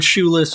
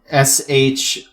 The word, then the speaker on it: Shoolis: I've already dunked on Shoeless on this podcast before. I'm not doing it again. You cannot fool me. No, it's not spelled like that. It's SHOOLIS. It is not shoeless, like without shoes.